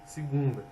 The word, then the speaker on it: segunda: Transformação de E, em I ou I, fato que ocorre de modo geral na língua portuguesa. Entretanto, nos dialetos nordestinos, Em particular no cearense, essa transformação ocorre também em qualquer posição em que as sílabas de uma palavra estiverem localizadas. Por exemplo, Ceará se diz Ceará, segunda, segunda, pentear, pentear.